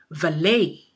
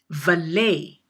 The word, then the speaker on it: valet: lose the context again the word is pronounced valet valet you will have to